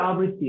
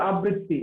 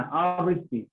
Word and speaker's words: আবৃত্তি: কবিতা আবৃত্তি এটা হচ্ছে শুদ্ধ উচ্চারণ। আমরা বলি কবিতা আবৃত্তি, এটা ভুল উচ্চারণ। আবৃত্তি না, আবৃত্তি।